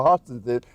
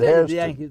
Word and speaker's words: Hairston: No, they were Hostons, but I grew up in Pennsylvania, where we said Hairston. the Yankees taught him wrong how to mispronounce it.